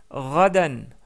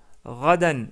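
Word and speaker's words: غدًا: Pour dire demain, on dit radan, radan ou rada. Si vous voulez prononcer plus correctement quand on s'arrête sur le mot, c'est rada.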